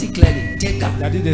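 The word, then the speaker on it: Tegha: I pronounced it clearly. Teka.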